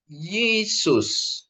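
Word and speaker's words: Ἰησοῦς: Ini bacanya jadi Yesus. Ya. Yota ketemu I ya. Yota ketemu I dia menjadi Y. Itu ya. Y menjadi Yesus ya. Yota ketemu Ita jadi Y, Yesus.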